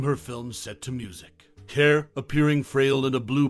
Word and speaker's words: Kerr: it's worth noting that Deborah Care's surname is pronounced as car not K or ker this pronunciation distinction often